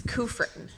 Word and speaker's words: Kufrin: unqualified becca will you help me um pronounce your last name yes it's kufrin kufrin yes i have that with my first